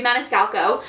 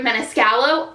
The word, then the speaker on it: Maniscalco: by carrie maniscalco um i've always been saying her name wrong by the way in every previous video video in every previous video i say carrie menescallo i did not know there was another c um but here we